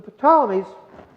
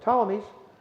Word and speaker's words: Ptolemies: Now, the Ptolemies, excuse me, that P is silent, the Ptolemies furthered Alexander's contribution when they built a massive library in Alexandria, Egypt.